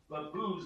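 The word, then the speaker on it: Lappuz: I think it rhymes with LaBue's, like B-O-Z, not LaBue's, B-O-Z. L-A-P-P-U-Z. It rhymes with booze a little bit.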